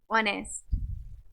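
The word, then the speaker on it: honest: और honour, honour नहीं, honour, ऑनेस्ट। चलिए साइलेंट टी वाले वर्ड्स देखते हैं हम।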